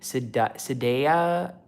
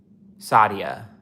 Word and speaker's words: Sadia: It's like Nadia with an S. Sadia.